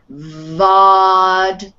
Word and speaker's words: vodka: So you start with a V sound. Vodka.